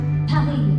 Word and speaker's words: Paris: Ano bang magandang pronunciation ng Paris? Pary.